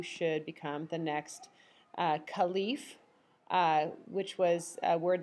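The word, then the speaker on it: caliph: become the next uh khif uh which was a word that meant successor or Deputy you might sometimes also hear it pronounced caleff the man who became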